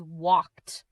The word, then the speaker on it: walked: walked Pronounce it as walked. The letter L is silent.